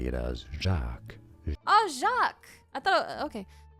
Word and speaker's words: Jacques: You could say it as Jacques.